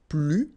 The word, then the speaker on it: plus: First structure, if you want to use this more, okay, so you will use this plus, and in that case you don't pronounce the S, okay, plus.